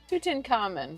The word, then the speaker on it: Tutankhamun: You do want to stress on the third syllable. Tutenable tuten tuten. Tuten Common Tutin Common.